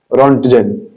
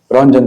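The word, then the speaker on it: Röntgen: इसके बाद इनके जो डिस्कवरर है वो है विलियम रन रोंटजन। ठीक है? रोंजन सॉरी टी यहां पर साइलेंट होता है विलियम रोंजन।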